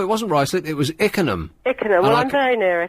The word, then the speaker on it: Ickenham: Oh, no, it wasn't Ruislip, it was Ickenham.